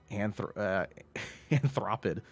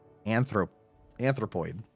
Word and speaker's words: anthropoid: Rated PACNS for passion, anthropid, excuse me, and consensual nanner spanking.